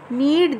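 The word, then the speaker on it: knead: नीड the floor. यहाँ पे के इज साइलेंट.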